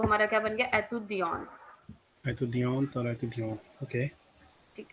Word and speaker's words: étudiant: So same way masculine में T silent हो गया और feminine में E साइलेंट हो गया. So exactly. तो वो हमारा क्या बन गया? एतुदियन.